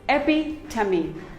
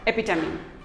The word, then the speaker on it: epitome: none of them is correct it is simply pronounced as very epitome it is not epitome it is epi tummy epi tummy epitome we all have a friend who is an